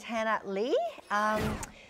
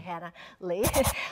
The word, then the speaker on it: Hannah Lee: My name is Hannah Lee. Well, in Korean, like it pronounces. So people think my surname is, and some people call me, but it's actually Hannah Lee.